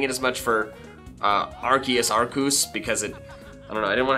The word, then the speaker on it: Arceus: And so I haven't been doing it as much for Arceus, Arcus, because I didn't want to have to explain it too much, but I probably should pronounce it Arcus more often.